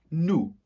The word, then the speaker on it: nous: So for the English, we, in French we would say nous. Nous. Not pronouncing that last letter S, unless the verb begins with a vowel and we have that liaison, like nous avons or nous allons.